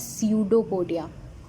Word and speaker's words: pseudopodia: इसमें P लगा है स्टार्टिंग में, बट when you will pronounce it then P won't be pronounced, it will be termed as pseudopodia। आप pseudo नहीं बोलेंगे, आप pseudopodia इसे pronounce करेंगे।